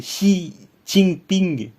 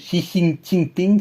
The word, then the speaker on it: Xi Jinping: Donc, et X, ça se prononce I. Normalement, enfin, une espèce d'approximation de I, de I. Donc, par exemple, Xi Jinping. Donc, c'est, ouais, et J, ça se prononce Che.